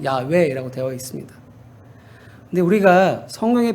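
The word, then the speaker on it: 야훼: 나다라 대와 있습니다 그 이름은 야외 원지 정확히 발음은 야외라고 되어 있습니다 근데 우리가 성경에 보면 여호 여호와라고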